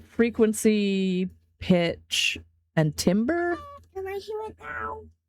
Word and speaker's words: timbre: Pronounced timbre.